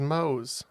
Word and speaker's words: Mohs: jeff yeah it's uh it is moe's yeah it's spelled m-o-h-s but it is the mohs scale it's not the family